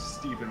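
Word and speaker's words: Phteven: His name is Steven with a PH.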